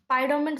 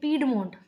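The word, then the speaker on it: piedmont: देखो इसको बेसिकली अगर हम देखें तो इसे हम प्रोनाउंसिएशन करेंगे पीडमोंट। पीडमोंट बोलो, पाइडोमेंट ऐसे गलत ही बोल रहे हैं हम। पीडमोंट will be the correct pronunciation.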